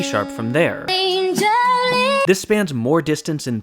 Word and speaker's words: Jolene: Jolene, Jolene, Jolene. This accents the 2nd syllable, which fits with how the name is pronounced.